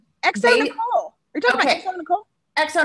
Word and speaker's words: xoNecole: It's Nicole. You're talking about X-O Nicole.